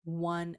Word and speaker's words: one: Now, we say one and once with this W sound.